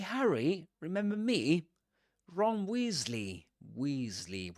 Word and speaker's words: Weasley: Weasley with a long e sound.